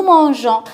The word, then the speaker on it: mangeons: au présent de l'indicatif, on ajoute le E pour ne pas prononcer le G, ga, on la prononce J. Nous mangeons, si vous écrivez nous